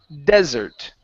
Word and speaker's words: desert: This one here is desert. Okay, the stress is at the very beginning.